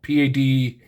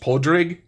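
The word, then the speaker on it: Pádraig: It's spelled Padraig. It looks like Padraig, but I think, and if anybody knows for a fact in the comments, correct me, I believe it's pronounced Podrig in Irish.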